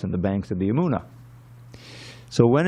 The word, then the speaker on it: Yamuna: The normal pronunciation you find for the Yamuna River is Yamuna, Yamuna River. But here it says Yamuna. The first day is long, the last day is short.